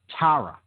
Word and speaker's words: Tara: from the Far East the goddess Terra a very similar in pronunciation okay same basic phonetic roots Terra and that spelled t-ara for those who want